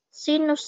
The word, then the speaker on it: sin: trigonometri disebutnya dengan Shin dapat ditulis sinus ya sinus atau dibacanya Sin aja itu adalah perbandingan antara